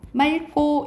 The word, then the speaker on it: 맑고: 근데 리을 기억 뒤에 기억이 오잖아요. 그럼 어떻게 발음 난다고? 리얼로 맑고 이렇게 발음이 난다고.